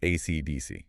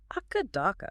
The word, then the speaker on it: AC/DC: If you're in the United States or the UK, you pronounce it AC/DC, right?